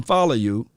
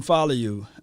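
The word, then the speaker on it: Faoliu: Now, I told them on my way walking out, bumped into Austin Follow You. And that's how you say his name. If you're a Polynesian, let me know if I'm saying it correctly.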